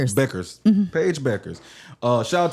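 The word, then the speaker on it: Bueckers: Paige I'm How do you pronounce her last name? Paige Beckers. Beckers.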